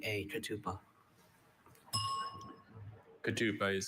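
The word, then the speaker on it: ketupa: Kadupa is spelled K E T U P A.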